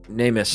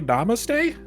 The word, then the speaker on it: namaste: Namist. It's like, what? Oh, did I say that wrong? I've only ever read that word in books. Are you trying to say namaste? Is that how it's said? Oh, that spelled so weird.